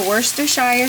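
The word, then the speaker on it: Worcestershire: So I'm going to put the worst shire sauce in here.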